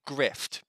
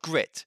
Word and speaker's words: Grit: it's called grit and i have a very hard time pronouncing it because i keep wanting to call it grift but it's called grit it's basically a red